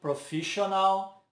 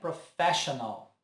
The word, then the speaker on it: professional: Já essa aqui eu ouço muito professional. Mas na verdade é professional.